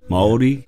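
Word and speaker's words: Māori: i i still wonder is it mahdi or is it maori or yeah could you go on maori maori um yep that's how i pronounce it and um back when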